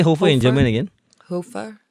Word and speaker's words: Hoefer: Hoefer. Like that's the way to pronounce his name?